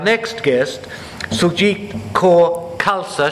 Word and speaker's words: Khalsa: guest so jeep kaur khalsa she said it's pronounced like salsa and I was scared